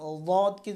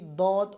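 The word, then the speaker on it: ض: তো আমরা দকে যদি দদ অথবা জদ বলি তাহলে কিন্তু উচ্চারণ হবে না।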